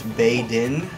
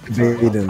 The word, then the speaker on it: Baden: Oh, I'm apparently saying his name wrong. Apparently it's Bay Din. Oh, my see. My bad. Okay, sorry. Baden.